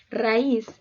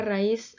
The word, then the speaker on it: raíz: raíz baúl freír egoísta raíz palabra de dos sílabas su sílaba tónica se encuentra en la última sílaba por lo tanto es